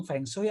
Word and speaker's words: Feng Shui: Nyebutin Feng Shui aja masih bingung, Feng Shui apa gimana cara bacanya gitu.